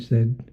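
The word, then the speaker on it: Saïd: And I should say that you're presently an associate fellow at Oxford University's, is it pronounced Said or Said Business School? Said, the Said Business.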